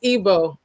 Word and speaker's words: Igbo: It's called It's Ebo. Ebo. Yes, it's spelled it's spelled Igbo.